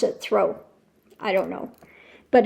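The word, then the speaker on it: Thoreau: throw I I think it's say pronounce it throw it looks like thoro it's uh written out Theo but they pronounce it throw I don't know but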